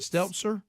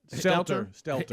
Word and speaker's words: Stelter: Is it Stelter? Stelter.